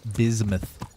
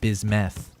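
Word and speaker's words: bismuth: He said it's pronounced bismouth, not bismeth.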